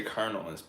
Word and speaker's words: colonel: is coronell in Spanish but in English it's not you say colonel in English that's the point but you don't spell it like colel you spell it c o l o n e l that does not say colonel bro I could say